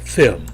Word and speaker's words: film: 예, 우리말식으로 밀 이런 식으로 나는 게 아니라 밀, 밀크 이런 식으로 나는 게 아니라 milk 이런 식으로 나죠. 필름이 아니라 film, 예, 필이 아니라 feel 이런 식으로 조금 다르게 납니다.